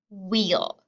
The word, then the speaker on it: wheel: beginning of the word wheel. So you'll know when you see WH together like that, that we don't make the h sound. That sound is silent. We just make the w sound.